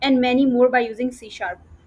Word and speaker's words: C#: what is सी शप it might look like सी hash but इट is pronounced as सी sharp okay सी sharp it